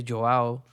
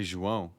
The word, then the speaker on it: João: But let's say if I was in Portugal and I want to shout your name, I can't say Joao. You could say João.